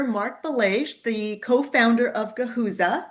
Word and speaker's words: Guhuza: I have here Mark Bles, the co-founder of Gahuza. Am I pronouncing that correctly there, Mark? That's right. Guza.